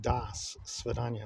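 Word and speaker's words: До свидания: So, like, for example, Das Vidanya it's spelled out in the Cyrillic alphabet with a D-O, but it's pronounced Das Svidanya.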